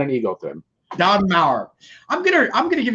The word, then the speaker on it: Mauer: guest today is don maurer don did i pronounce that right you did perfect it rhymes with powers that's all you got